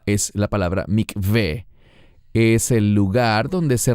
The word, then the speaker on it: mikveh: Normalmente los mesiánicos que hablan inglés lo pronuncian como mikvah. No es mikvah, es la palabra mikveh.